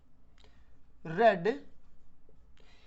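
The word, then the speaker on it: read: My sister has रेड, ये रीड word होता है। जब इसको सेकंड और थर्ड फॉर्म में पढ़ते हैं तो इसको रेड प्रोनाउंस करते हैं।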